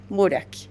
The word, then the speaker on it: Buraschi: Buraki, exacto. con ch, pero se pronuncia con K.